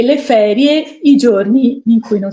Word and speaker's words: feriae: Coeli no E quindi feriae si legge ferie anche se si scrive Feri a e però in latino si legge ferie quindi i giorni di